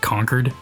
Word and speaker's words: Concord: hero shooter Concord or if you're like in Massachusetts it's like conquered that's how they pronounce that City but um I pronounce